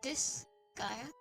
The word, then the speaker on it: Disgaea: like this guy but it's probably pronounced this gaia and the reason for that is because this is stands for not and gaia is world so this the name is really not of this world and that's the origin